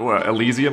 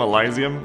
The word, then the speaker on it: Elysium: I'll just come back is that how you pronounce Elysium yeah Elysium elizian I I call things eliseum yeah elizian drop troops hello hello